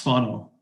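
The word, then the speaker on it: whānau: the indigenous people of new zealand uh it's pronounced funnel um and it's often translated as family but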